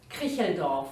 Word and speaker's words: Kricheldorf: You have to tell me your name to pronounce it correctly. Kricheldorf. Kricheldorf.